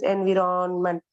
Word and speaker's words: environment: Because environment தான் நம்ம teachers எல்லாம் till now they would have said, but the correct pronunciation is environment. Environment சொன்னா அது தப்பு. You should pronounce as environment.